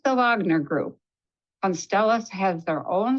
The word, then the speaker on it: Wagner: Army known as the Wagner group and that's the the European pronunciation here in America we might say the Wagner group w-a-g-n-e-r but it's generally pronounced